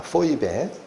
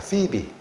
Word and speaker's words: Phoebe: 포이베. 그래서 이게 영어로 하면 PHOEBE라고 씁니다. 그 헬라어를 알파벳으로 그대로 옮겨준 거예요. 근데 미국식 발음은 피비입니다. 피비.